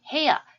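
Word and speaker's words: 部屋: 자, 그 다음 해야. 이 단어 중요하죠. 자, 이 단어를 해야라고 읽는 건 반드시 학습의 결과로 보면 볼 수 있습니다.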